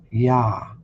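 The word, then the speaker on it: יה: Look, the first two vowel letters are yod hey and according to Strong's number H 3050, it is pronounced as ya.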